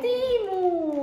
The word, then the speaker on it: Temu: all timu u come non è temu è timu non è Tem Sì allora si scrive temu però si legge timu Guardate quanto è bella